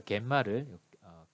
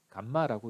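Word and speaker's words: gamma: 그래서 여기서 갯마를 감마라고 읽죠. 저는 갯마라고 보통 읽는데 감마, 갯마입니다. 갯마.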